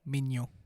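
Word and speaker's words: Maignan: The first pick for Leny FC is Mike Mignon for AC Milan. Okay, you've done me a favour because I've not said Mignon. You really nailed that pronunciation there as well.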